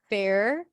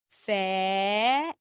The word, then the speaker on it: fair: I'm just telling you if you're hearing something like this, fair cur, that means that you're lifting your tongue up too quickly. You first have to pronounce the vowel like Antonyina does. She does a really good job with that. Fair. And only at the end you retract your tongue for the R.